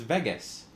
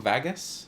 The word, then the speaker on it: Vegas: Vegas is it ve it's Vegas right Vegas Vegas baby Vegas am I saying it wrong Vagas it's Vegas uh gluon says what